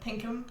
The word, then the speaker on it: Pinkham: And then Bryce Pinkman, is that how you say it? Pinkham.